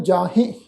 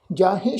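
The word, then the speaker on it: ਜਾਹਿ: Timor अज्ञान जाहे, जाहे शब्द है जी जज्जे नूं कन्ना, हाहे नूं सिहारी नाल बिंदी ला के नासकी पाठ उच्चारण करांगे जाहे।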